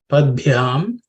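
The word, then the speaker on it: पद्भ्याम्: In that three-letter compound consonant, the middle one, the ub, is an aspirated one. So, because it's the fourth letter in the pa varga, so it has to be pronounced with a little bit of extra air.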